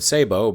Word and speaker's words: sabot: And yes, you can also pronounce the word sabot, but I'm not French, so I'm not going to do that.